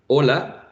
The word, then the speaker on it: hola: not pronounced I guess we have the same thing in Spanish with the letter H when we say hola right we have a silent H at the beginning so some some languages